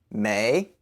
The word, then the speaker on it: 没: 没 is spelled M-E-I. The M sounds just like an English M, ma, and the E-I sounds like an English hard A, so A.